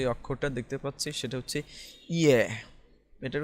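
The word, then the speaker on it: 예: তো আমরা এখন যে অক্ষরটা দেখতে পাচ্ছি সেটা হচ্ছে ইয়ে। এটার উচ্চারণ হবে ইয়ে।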